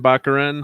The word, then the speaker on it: Baccarin: Baccarin.